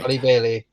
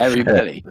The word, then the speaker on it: Halle Bailey: Halle Bailey. Yeah, Halle Bailey. Yeah, I always thought it was Harry Bailey.